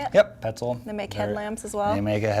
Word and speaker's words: Petzl: Yep, Petzl.